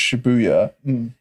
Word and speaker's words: Shibuya: but the only reason i know that it's pronounced shibuya is because um my my good friend dan